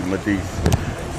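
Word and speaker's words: Madise: M-A-D-I-S-E, Medice.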